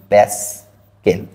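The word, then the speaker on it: pascal: একক হচ্ছে পি এ পি এ টাকে আমরা একচুয়ালি উচ্চারণ করি প্যাসকেল চাপের আরেকটা একক বলা হচ্ছে পিএ যেটাকে আমরা উচ্চারণ করে থাকি প্যাস্কেল এটা একটু ঝট করে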